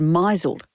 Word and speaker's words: misled: before she realized that the word misled was pronounced misled. She'd always said misled.